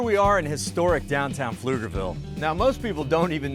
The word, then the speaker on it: Pflugerville: fun aflugerville oh yeah the p is silent that's right Pflugerville